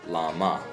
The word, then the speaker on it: བླ་མ: So it's just La, and then we go to the last syllable, Ma, right? So this word is Lama, okay?